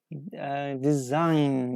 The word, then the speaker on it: design: face they say G design yes we don't pronounce we don't pronounce G here yes design design is a correct answer for number one yes